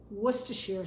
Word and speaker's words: Worcestershire: parsley some here's a little lesson for you Worcestershire sauce that is how you pronounce it if you go to England Worcester